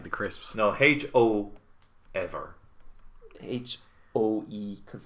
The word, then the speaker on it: Hoever: they pronounce I it. thought it was like quavers, like the crisps. No, Ho ever.